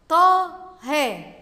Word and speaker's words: طه: طه، طه، بعد الطاء ألف تنطق ولا تكتب.